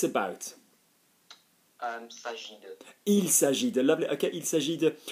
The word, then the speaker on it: il s'agit de: Il s'agit de. Lovely. Okay, il s'agit de. And I always stress the il because obviously half the